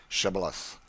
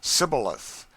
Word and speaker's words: Shibboleth: let none pass who could not say Shibboleth. The Ephraimites, being of a different tribe, could not frame to pronounce the word right, but called it Sibboleth, which proved them enemies and cost them their lives.